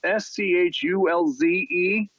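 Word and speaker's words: Schulze: young lady named Anna Shultz and it's schul ze I googled it to make sure it's pronounced that way and she's this young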